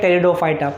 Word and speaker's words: Pteridophyta: तो फर्स्ट हमने जो स्टडी किया है वो है थैलोफाइटा, नेक्स्ट है ब्रायोफाइटा, थर्ड वन है टेरिडोफाइटा. पी बेटा इसके अंदर साइलेंट है.